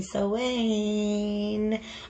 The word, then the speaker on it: Samhain: Hi guys, it's Molly with Soul School Tarot and Astrology, and happy Samhain. For those of you who are not hip to the Irish pronunciation, you may have seen it spelled something like Samhain.